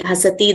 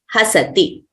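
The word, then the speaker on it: हसति: So we should not prolong them as pathati, likhati, dhavati, nrityati, hasati. That would be wrong. So we have to pronounce them accurately as short letters. Pathati, likhati, dhavati, nrityati, hasati.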